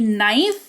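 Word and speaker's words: knife: इससे एम्प्ट रखेंगे क्लियर तो के कब साइलेंट होगा किसी शब्द की शुरुआत के से होगी उसके जस्ट बाद एन आ जाएगा तो वहां पर के साइलेंट होगा जैसे कि नाइफ इसको के अगर यहां नहीं भी हो तो भी आप इसको नाइफ ही पढ़ोगे तो आप उसको वैसे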